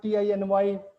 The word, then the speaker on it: tiny: No, as like there is a word TINY. Mentor. We used to call it teeny, Yeah. it is tiny.